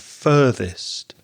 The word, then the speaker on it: further: the pronunciation of further f-u-r-t-h-e-r the first vowel sound is er like in words like turn or learn or burn so it's further and furthest although I also think